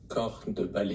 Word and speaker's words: corps de ballet: Corps de ballet. Corps de ballet. You don't pronounce the P or S? The first word is composed of 5 letters, but only the 3 first letters are actually pronounced.